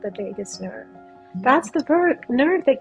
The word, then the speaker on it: vagus: The vagus nerve. It's kind of like Las Vegas, but it's spelled a little different.